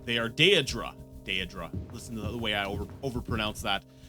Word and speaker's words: daedra: technically no demons they are day a drop day adre listen the way I / / pronounce that daedra so my question is is